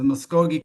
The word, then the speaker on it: Muscogee: Yeah, you did pronounce it correctly. It's the Muscogi Creek Nation.